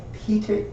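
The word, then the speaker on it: Pyotr: But yeah, the P-Y-O-T-R is usually just pronounced Peter, all right, and it is.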